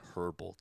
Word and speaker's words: herbal: Why did I say herbal tea? The H is silent.